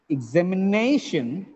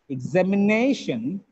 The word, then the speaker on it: examination: tears technician suspicion suspicion examination examination actually in this word we have two stresses nay gets the primary stress zam gets the secondary stress where it happens